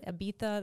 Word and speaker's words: Ibiza: Ibiza, that's how they say it.